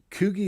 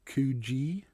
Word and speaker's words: Coogi: Coogie is pronounced Coogee in That's what I Australia.